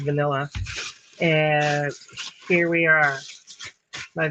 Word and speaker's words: VNLA: I think it's just pronounced vanilla.